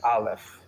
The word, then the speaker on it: aleph: first letter of the Hebrew alphabet is the Olive uh can you can we pronounce the letter aleph Olive I Live Well